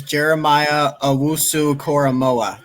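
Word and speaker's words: Jeremiah Owusu-Koramoah: All right, so the guy's name is Jeremiah Owusu Koromoa. That's how you pronounce his name.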